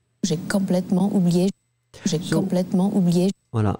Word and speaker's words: complètement: J'ai complètement oublié. Voilà. Maybe the only thing that we could mention would be the nasal for the OM.